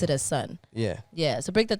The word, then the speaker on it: S.O.N: obviously stylized as is o n but you pronounce it as son yeah yeah so break that down for us